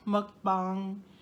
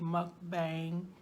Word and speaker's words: mukbang: Sometimes I might say mukbang. You know, I try to say it at least halfway right. I get the muck part right because it rhymes with puck, you know, like hockey puck.